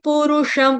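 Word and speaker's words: पुरुषं: ऊपर चर्चा नहीं करेंगे उ ह्रस्व रू ह्रस्व श षट्कोण वाला ऊपर बिंदी अनुस्वार उसका उच्चारण हलंत म के साथ करेंगे क्यों क्योंकि आगे प से स्टार्ट हो रहा है वर्ड इसलिए ठीक है फिर उसके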